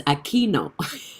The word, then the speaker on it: Aquino: I always attend his live, and he always mispronounced my name, but I always wanted to have the chance to let him know it's Aquino.